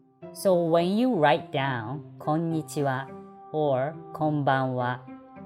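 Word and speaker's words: こんにちは: when you write down konichiwa or konbanwa actually last what sound is wha but not ha this ha is the part of the particle so please don't forget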